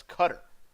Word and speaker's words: Qatar: them it's Qatari well or you say the way how is actually pronounced and that's cutter I'm being serious yeah